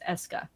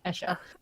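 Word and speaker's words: Escha: I refuse to pronounce it as Eska. No, Esha.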